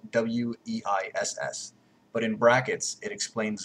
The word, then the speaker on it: Weiss: Now, it's spelled W-E-I-S-S, but in brackets, it explains that because this